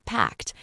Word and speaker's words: packed: This word is very important for pronunciation because it ends with a clear t sound.